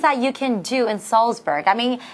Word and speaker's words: Salzburg: it's Mozart and Saltzburg sometimes you want to pronounce that Z softly and maybe see Mozart or Salzburg don't make that mistake Mozart and Salzburg between day one and